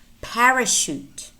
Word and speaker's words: parachute: Also spelled CH as an exception, and these are pretty much, there are probably maybe 4 or 5 more words that are spelled CH and pronounced sh.